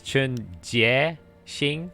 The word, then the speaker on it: Chun Jie Xing: Yeah, it's Chun Jie Xing, so you have to pronounce the E in the G part.